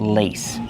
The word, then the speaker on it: lace: This fabric is called lace. Use a long A sound like say and day. Lace. The fabric is called lace.